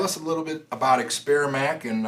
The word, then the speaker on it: Experimac: Today we have Gary Wolf, owner of Experimac.